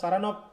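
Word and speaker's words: Saranoff: Don't you here major সারানভ knocking, শুনতে পাচ্ছ না? মেজর সারানভ আসছে, bring him round this way, তাকে নিয়ে আসো। হি প্রোনাউন্সেস the name with the stress on the second syllable, সারা, সারা, এরকম আর কি, সেকেন্ড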